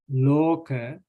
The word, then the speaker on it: loka: And loka, right? Loka is also same.